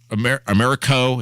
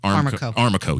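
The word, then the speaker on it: Aramco: But he makes a great point, which is, and we talked about this before, Americo is the Saudi oil company. I may be mispronouncing that. Armaco. Yes, thank you.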